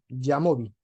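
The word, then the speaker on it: jamovi: El el software es así, Yamobi, Jamobi se escribe, ¿sí?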